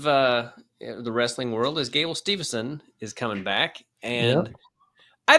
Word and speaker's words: Steveson: Yeah, and speaking of things that irk me, it is Steveson, and I'm glad that you said it correctly. Because I wasn't going to say it wrong because so many people spell it wrong. And Gable Stevenson's coming back. Well, they almost always say Stevenson.